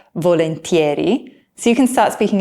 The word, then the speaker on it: volentieri: Volentieri is a really useful word that means, that would be great, or that would be lovely.